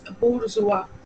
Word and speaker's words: bourgeois: I know many of you all would think of it as bourgeois or bourgeois, right? But this is not bourgeois or bourgeois. This word is a French word. But now many French words have been incorporated into our English language. This word is pronounced as bourgeois.